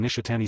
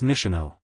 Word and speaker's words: Nishino: Anyway, sorry for getting your name wrong, Nishhatani San Minoru said once again in a monotone voice. It's Nishino, she expressed irritated.